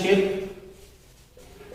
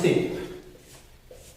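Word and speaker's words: ship: अब इसको बहुत सारे स्टूडेंट पढ़ते हैं शिप और बहुत सारे पढ़ते हैं सिप। इन दोनों के उच्चारण में बहुत अंतर होता है।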